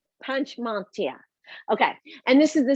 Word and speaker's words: Panchmatia: And I am blessed to be talking to Panchmatia. Panchmatia. Did I say it right? You did, yeah, it's phonetic. Panchmatia.